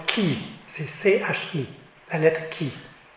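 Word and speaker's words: χ: nom spécial c'est le X en grec se prononce qui c'est ci la lettre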